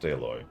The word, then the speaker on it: Aloy: forget how they spell it, but it's pronounced Aloy.